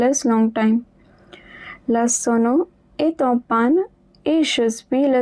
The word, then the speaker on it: est en panne: And there is a liaison, so the T at the end of est will also be pronounced. La sono est en panne.